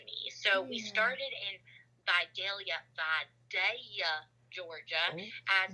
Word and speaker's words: Vidalia: pretty special to me so we started in by daia Georgia as it's pronounced to the locals which is like the